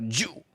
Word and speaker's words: Zhu: But of course in China that's pronounced Sarah Jew.